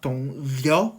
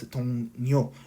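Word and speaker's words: 동료: So not dong liu, it's dong nyo.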